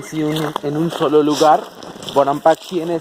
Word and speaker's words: Bonampak: Pero si nosotros decimos o describimos Bonampak en nuestra lengua como maya lacandón, sería de esta forma, como Banaan, Pacaan. Eso sería aquí en nuestra lengua como maya lacandón, pero ya con una pronunciación, ¿no? En nuestra lengua aquí como maya lacandón. Pero bueno, obvio, ¿no? Pues es mucho más práctico en la zona peninsular, simplemente Bonampak, ¿no? Sin pronunciación.